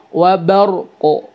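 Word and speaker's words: وبرق: Qalqalah di qafnya kasih wa barqo gitu ya. Nah, enggak boleh juga wa bar gitu ya. Qafnya hilang gitu ya. Jadi gimana? Fihi dhulumatun wa ra'dun wa barqo ya, wa barqo ya, bukan wabar ya.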